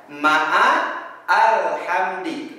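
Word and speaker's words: مَعَ الْحَمْدِ: Contoh lagi ada lafaz ma'al hamdi. Jadi tidak dibaca ma'al hamdi, tapi dibacanya langsung kepada lam sukun, dibaca menjadi ma'al hamdi.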